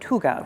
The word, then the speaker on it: hygge: It is, because otherwise you're right, things are sterile, and part of the Scandinavian philosophy is that, hygge, spelled like Heigi, but hygge, right?